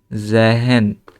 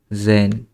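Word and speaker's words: sehen: তারপরে রেন, তারপরে এটা জেহেন হওয়ার কথা, কিন্তু এটা হবে জেন, কারণ এই যে এইচ, এইচের আগে কি আছে, ভাওয়েল আছে, এই জন্য এইচটা উচ্চারণ হবে না, জেন, ঠিক আছে, জেহেন হবে না, হবে জেন।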